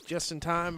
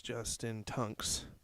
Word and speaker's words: Justin Tunks: This is Justin Tunks. Is the actual pronunciation. Got Just in Time on the back of his shirt, so I was going with that one.